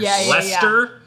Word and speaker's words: Leicester: I feel like there's a lot of English cities and towns where they kind of skip over half the letters. Leicester?